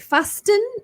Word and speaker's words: fasten: When you are in the car, you need to, is it fasten or fasten your seatbelt? It's silent T.